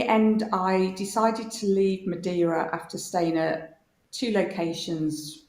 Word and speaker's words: Madeira: i flew out to madera did you call it madeira but i now know you should pronounce it madeira oh madeira cake not madeira okay that's right yeah i